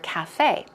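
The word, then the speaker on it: café: go over the pronunciation it's cafe cafe okay it's not yeah it's not caught it's like cat it's like an ass sound cafe although you could say cafe cafe sounds more French right okay so you'll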